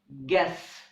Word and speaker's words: guess: The words guess and guest also have a silent U.